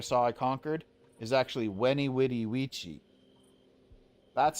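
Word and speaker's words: veni vidi vici: I conquered is actually weny witty witchi. That's how it's pronounced. So, anytime you hear anyone pronounce Latin with a V sound, they're wrong and they're it up.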